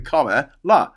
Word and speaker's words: Kamala: the first time I try and say comma like comma like a comma LA because that's what that's